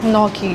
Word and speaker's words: gnocchi: सो we have order, वैसे GNNOCHI था बट we pronounce it एज gnocchi.